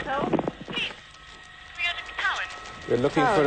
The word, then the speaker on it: Tywyn: it's called Tywyn, T-Y-W-Y-N. Cowan. T-Y-W-Y-N. That's pronounced Cowan.